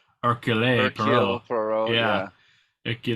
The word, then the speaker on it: Hercule: And so Tina Fey and Hercule he says his name so well in the movie, like he doesn't even pronounce the H. It's like Hercule Hercule Poirot.